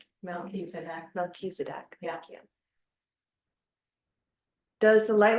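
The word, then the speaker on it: Melchizedek: Oh, the ch is actually pronounced as a K Misedc. Mechisedc.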